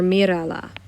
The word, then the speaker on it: mírala: When I do that, remember emphasis usually goes on the next to last syllable. If we change that by adding something to the word, we're going to need an accent. So I am going to put an accent on what used to be the next to last syllable. So mírala.